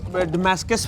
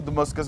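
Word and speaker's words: Damascus: वैसे मैं इसको डमस्कस बोलता था, एग्जैक्ट प्रोनाउंसिएशन इसका क्या है? तो दमस्कस भी बोलते हैं, दमस्कस भी बोलते हैं, जो आपके मुंह पे चढ़ जाए।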